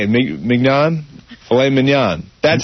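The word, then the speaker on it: filet mignon: Filet manan.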